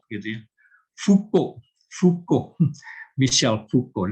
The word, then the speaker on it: Michel: Michel Foucault. Dan Michel bukan Michael karena dia bukan orang Inggris. Michel Foucault, Mark C.